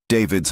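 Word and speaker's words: D4vd: David David's Hollywood Hills home raided by LAPD. But will it lead to an arrest? By now you've heard the name D4 VD pronounced David.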